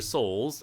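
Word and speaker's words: Sowles: design brought to us by the great Tyler Souls if anyone who doesn't know goat his name is spelt e yl er s o WL e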